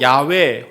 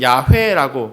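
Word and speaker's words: 야훼: 이렇게 읽어 오시는 거예요 히브리어는 저렇게 쓰고 야외 혹은 야해라 그렇게 발음합니다 그러나 사실이 발음 역시 정확하지 않아요 왜냐하면이 히브리어 자음네 개를 어떻게 발음해야 하는지 사람들은 사실 몰랐어요 화면에 보시는 저 글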